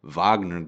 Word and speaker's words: Wagner: life Russian mercenary group the VA or Wagner Vagner group is it's pronounced uh that uh was fighting